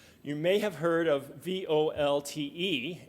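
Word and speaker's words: VoLTE: may have heard of vol te it's voice over LTE it's actually pronounced volt a kind of French like but then that's that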